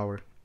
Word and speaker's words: hour: hora em inglês certo se eu colocar a pronunciar aula fica a our a our earth isso não tem o que